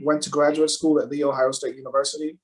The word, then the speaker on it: The Ohio State University: to graduate school at the ohio state university that's the right way to pronounce my alma mater earn a master's